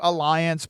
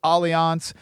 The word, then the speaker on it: Allianz: Allianz, or some people call it Alliance, but I've always pronounced it Allianz, one of the largest life insurance companies in the world, headquartered overseas.